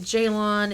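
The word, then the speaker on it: Ceylan: The first letter of my name is a C, even though it's pronounced Jaylon. It is a Turkish name, and the Turkish C is pronounced like our J.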